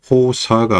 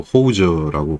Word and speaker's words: hawser: 그래서이 단어를 발음을 할 때는 호사가 아니고 호우저라고 발음을 하는데 아마이 단어가 일본식 영어